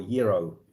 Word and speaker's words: gyro: in my opinion the gyro or euro euro if you have to pronounce it the proper Greek way that me it's kind